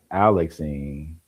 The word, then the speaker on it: Alexine: Alex in rhymes with Maxine. Oh, okay. Alexine or A Alexine.